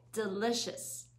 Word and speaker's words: delicious: 그리고 delicious, delicious 아니고 delicious, delicious.